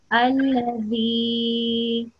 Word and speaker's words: الذي: Can you try and pronounce it softly? Alladhi. Yeah, that's right.